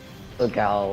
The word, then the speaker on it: Solgaleo: Solgaleo. That's right though. Solgaleo. Don't trust my judgment when it comes to pronouncing Pokemon names.